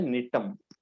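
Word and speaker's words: Gnetum: Okay, see this is an advanced gymnosperm, इसका नाम है निटम, जी साइलेंट, निटम।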